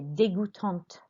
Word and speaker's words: dégoûtante: What does sound different is the pronunciation in the feminine plural, because we've added an E on, so it means that we have to pronounce the last consonants, which you're not pronouncing up here in the masculine singular and the masculine plural. But we have to pronounce them here.